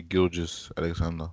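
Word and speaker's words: Gilgeous-Alexander: How do you pronounce his name? Shea Alexander. say Gilgeous Alexander. Yeah, that's it.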